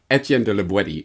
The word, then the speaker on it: Étienne de La Boétie: Call him whatever you want, but Etienne de la Boétie is apparently the proper pronunciation.